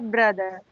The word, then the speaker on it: brother: Its correct pronunciation is mother, father, sister, brother. Okay, here also this R is silent.